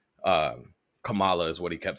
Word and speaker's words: Kamala: correctly right um and let's be clear it's Kamala we need to be able to say that